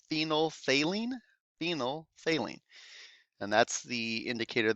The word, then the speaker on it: phenolphthalein: second one there phenol the second ph is silent we pronounce that phenolphthalein phenylphthalein and that's the